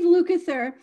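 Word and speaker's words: Lukather: you say his name lunather lucather lucather steve lucather was talking about how when he was this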